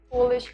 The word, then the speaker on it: Polish: They are pronounced differently when the first letter is capitalized. Job. Oh, well, now you know. Herb. Excuse me. So herb is herb. Polish is Polish. And job is Job.